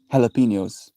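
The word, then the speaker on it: jalapeños: And they go, Ricky, the J is silent. It's jalapenos. And he's like, "The fuck are you talking about?"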